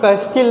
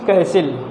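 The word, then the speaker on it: castle: कैसिल means होता है, पहले तो बता दूँ, किला, जैसे मैकबेथ का किला रहा, मैकबेथ प्ले में, तो उसको हम लोग कैस्टिल नहीं पढ़ेंगे, इट्स कैसिल।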